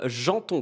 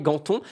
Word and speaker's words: Janton: de lactu avec Guillaume Janton que je ne vais pas appeler Ganton même si je suis habitué à dire Ganton ce n'est pas la manière dont son nom se prononce petit actu parce que